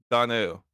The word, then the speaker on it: Donnell: Yeah, you're saying it wrong. It's just Donnell.